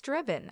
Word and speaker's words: Drebin: It's Drebin actually like Leslie Nielsen in the naked gun. You know, Frank Drebin, he told me about it.